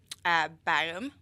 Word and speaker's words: Bærum: How do you pronounce the name of the city that you moved to in Norway? Bærum.